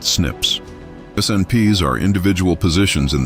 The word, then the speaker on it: SNPs: It uses a different type of genetic marker called single nucleotide polymorphisms or SNPs, pronounced "snips".